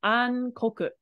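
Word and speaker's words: 暗黒: So kurai and kuro together makes a word that's not pronounced like how it normally is, which is ankoku.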